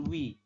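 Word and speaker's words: ㅚ: O dengan I dibacanya sama, bukan OI tapi wi. Seperti ini ya, sama teman-teman ya.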